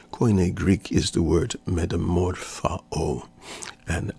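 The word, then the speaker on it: μεταμορφόω: Greek is the word metamorphao. And I'm doing the classic pronunciation. There are some who pronounce it metamorphoo, but when you study the Greek in this and the Greek context, you'll find out metamorphao.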